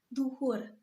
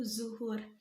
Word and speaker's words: dzuhur: sudah Kemudian yang kedua adanya kata Dhuhur sedangkan penulisan atau penyebutan kategori ini dalam bentuk baku dalam bahasa Indonesia dituliskan atau dibacanya itu dzuhur nah kemudian telah hanya